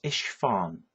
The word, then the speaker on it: Isfahan: It's Isfahan, which is spelled ISFAHAN.